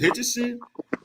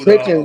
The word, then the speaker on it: Hitchens: You do that stuff against Hitchison. I mean, I don't know, bro. I think Hitchison and that one dude. Hitchens, man. Hitchens. Okay, bro. I said it wrong.